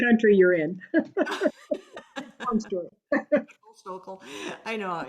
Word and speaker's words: Stokel: So up next we have Stokel. Yeah. Did I pronounce it right? Yeah. Okay, great. Depends on what part of the country you're in. Long story. Stokel.